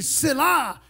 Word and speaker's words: Selah: See, Selah is not supposed to be read or pronounced. It's a musical note.